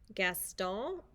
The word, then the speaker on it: Gaston: this one it's called gaston and that's the french pronunciation of a french name and we know we